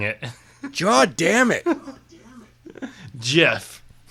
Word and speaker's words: GIF: GIF.